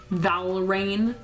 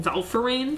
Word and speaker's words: Valrain: It is about a magician slash alchemist, I guess, named Valrain. As a child, I mispronounced his name quite a lot. I used to call him Valfarain for some reason, but that's not his name.